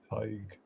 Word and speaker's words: Tadhg: So to pronounce my name, forget about the spelling. It's like tiger without the so it's Tadhg.